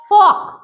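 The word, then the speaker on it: folk: Should L को पढ़ेंगे ही नहीं और एफ ओ एल के फोक फोल्क नहीं फोक।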